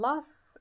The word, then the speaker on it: laugh: It made the children laugh and play. خلت الأطفال children أطفال يضحكون ويلعبون. Laugh هنا جي اتش عندي تنطق ف.